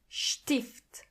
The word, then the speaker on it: Stift: Together they are scht. For example, Strasse. Strasse. Means street. Or Stern. Stern. Which means star. And also like Stift. Stift. Which means pen.